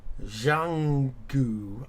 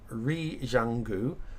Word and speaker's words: Zhuanghe: one because it's a Chinese city, but it's Zhuanghe, I think it's pronounced. Zhuanghe. That's RE colon ZHUANGHE.